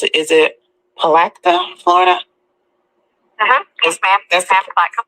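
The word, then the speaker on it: Palatka: His name is Alfonso Brooks, and he's out there in how do you pronounce it? Is it Palacta, Florida?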